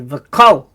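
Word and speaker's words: וְכָל: Now remember that the grammar rule is that the kamatz in the sort of the closed syllable, so there's nothing following the lamed, is generally said as a short O sound. So we say v'kol, ashir, li, leka, hu,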